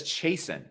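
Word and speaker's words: Chiasson: name christian you know she says jason sounds ridiculous mason macy jason uh oh well that makes sense macy jason and it kind of rhymes plus 185 versus 225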